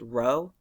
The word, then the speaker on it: rho: Resistivity is this Greek letter it's pronounced rho.